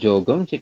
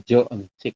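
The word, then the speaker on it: 저 음식: Bukan jogemsik tapi joemsik gitu ya.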